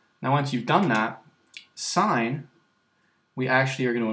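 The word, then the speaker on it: sine: let's start here um this you pronounce sign and F is going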